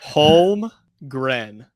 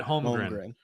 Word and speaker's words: Holmgren: Yes, I believe Chet Holmgren. Gren. That's how you say it. Holmgren. Chet Holmgren.